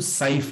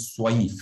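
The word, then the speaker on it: صيف: আর এই যে এটা কিন্তু সাইফ না, অনেকে উচ্চারণ করার সময় রিহাতা শীতাই ও সাইফ বলে, এটা কিন্তু সোয়াইফ, সোয়া দিয়ে আপনাকে বলতে হবে।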